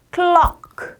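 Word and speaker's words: clock: 클락. 자, 클락 하는 순간 이 크 소리가 목을 눌러줄 거고요. 클락 라고 발음하면 돼 라고 가볍게 설명해 주시면 돼요.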